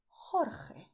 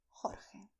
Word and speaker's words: Jorge: You have the way of pronouncing with a deep sound with your throat, which is Juan, José, Jesús, Jorge. But you don't have to make this sound if you don't like to. You can pronounce as Juan, José, Jesús, Jorge. Alright?